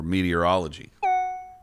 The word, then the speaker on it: meteorology: me more about meteorology the pronunciation of this word is meatier than many of us think never forget that this word is built upon meteor which makes all three syllables initial syllables mandatory it's simple meteor ology meteorology meteorology meteorology i think